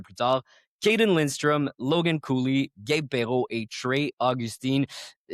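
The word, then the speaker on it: Cuylle: Rickard Rakell, Will Cooley. Comment tu prononces ça, toi? On a un débat à chaque fois. Presque comme Logan Cooley. Cooley? Pour elle, OK. ça se prononce presque de la même manière.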